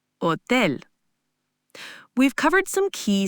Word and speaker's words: hotel: Finally, a very important one, the silent H. In Spanish, the letter H is always silent. You just don't pronounce it at all. This is a common point of confusion. Try hola, hola, and hotel, hotel.